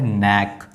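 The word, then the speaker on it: knack: यहाँ पर जो के है वो साइलेंट है। यहाँ पर लिखा हुआ है नैक।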